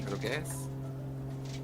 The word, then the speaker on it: Roques: You need to pronounce it like Roquez or Roquez. More Spanish, Roques.